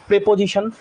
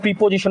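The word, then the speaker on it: preposition: pronoun verb adjective adverb প্রেপজিশন তোমরা যাদেরকে প্রিপজিশন বলো উচ্চারণ হয় প্রেপজিশন প্রেপজিশন প্রেপজিশন আসবে সাত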